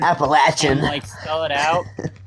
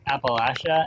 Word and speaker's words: Appalachia: that issue with the I have that issue with the word Appalachia. Oh yeah oh my gosh. Appalachian. And then like I'll sit there and pronounce it as like Appalachia and I'm like people like no it's Appalachia. I'm like but we don't call them the Apple Apple Appalachian Mountains you call them the Appalachian.